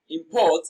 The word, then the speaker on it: import: Import is pronounced and broken down into syllables as import. Port receives the stress. It is pronounced louder and longer.